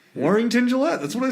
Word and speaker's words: Warrington Gillette: No, I said that's Warrington Gillette. Okay, sorry. Yeah, see, Scotty, he doesn't hear so Well, good. you said his name wrong. Warrington Gillette.